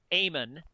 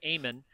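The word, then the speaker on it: Eamon: of Ireland versus France this one is from aan that's an Irish name e a m o n for you Bob so there's there's some education for you aan I think I think it might be the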